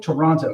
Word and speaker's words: Toronto: Toronto. Toronto. Okay. I believe it's like the city.